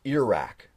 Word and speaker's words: Iraq: Iraq I'm from Iraq how do you say Iraq or ear rack had a radio teacher told me it was pronounced ear rack ear rack or Iraq either or this one's called I'm